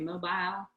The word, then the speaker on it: mobile: pronounce that in Senatobia mobile three it's three syllables yeah that's the North Alabama pronunciation all right Momaya baby's